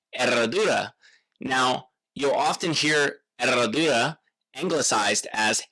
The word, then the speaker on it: Herradura: Now, you'll often hear Eradura anglicized as Herodora. It's a tricky word for uh English speakers, especially Americans, because you have the silent H and the double rolled R.